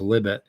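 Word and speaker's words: Libet: remember libbit you know uh Li IB T and it is pronounced libbit came up the experiment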